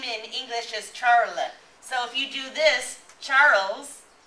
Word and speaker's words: Charles's: we're going to say Charles with an apostrophe and an S. How do we pronounce this? No? Charles's. We're going to say Charles's house, okay? Maybe you'll hear people say Charles' house, but we can also,